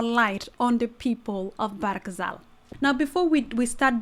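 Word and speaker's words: Bahr el Ghazal: coming through brother so the proper way of pronouncing it is not ba El Casal it's actually barakazal is that correct yeah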